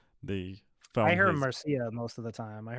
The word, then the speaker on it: Mircea: We call him Mircea here in Romania, but you can say Mircea or whatever, I however say you Mircea, pronounce it.